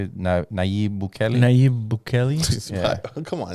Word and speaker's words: Nayib Bukele: Nayib Bukele?